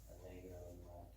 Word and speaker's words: Allegro: Allegro, is that Yeah.